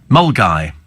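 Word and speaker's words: Milngavie: on from the side it's ridiculous and and milavi mulgi that's a Scottish one though for those people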